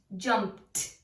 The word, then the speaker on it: jumped: When vowel suffix ED comes after an unvoiced letter, it is pronounced t, t, like missed, helped, jumped. Why? Because the S and the P are unvoiced. That means you do not use your vocal cords, you use your breath.